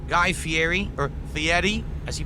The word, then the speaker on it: Fieri: Guy Fieri or Fiieti as he pronounces his name.